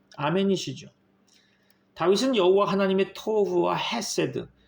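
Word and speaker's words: חסד: 인자하심 곧 히브리어로 헤세드라고 발음하는데요.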